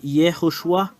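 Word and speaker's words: יהושע: voilà écoutez bien alors le fait de prononcer ce terme c'est Yehoshua le voilà alors que nous voyons très bien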